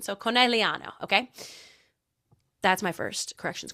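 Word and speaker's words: Conegliano: I don't I was pronouncing the G and I took Italian for a year.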